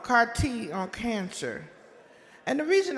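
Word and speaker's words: CAR-T: the trend lines for how more frequently this CARTT therapy is being offered as an appropriate treatment in a lot of cancer cases.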